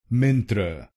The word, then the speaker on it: Myntra: Its correct pronunciation is mantra. The word mantra has two syllables. "Friend, friend, will become mantra," mantra. And here, you need to stress the first syllable: mtra mtra.